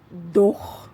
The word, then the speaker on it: though: beli handphone itu oke untuk pengucapannya sendiri itu kan dia pun akhirnya akan ada gh ya gh tapi itu enggak di pronouns doh begitu enggak jadi dia dia malah silence enggak kedengaran wow even do aldo